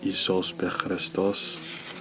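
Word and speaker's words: ⲓⲏⲥⲟⲩⲥ: for example the word Jesus Christ pronounced isos and Coptic is abbreviated like this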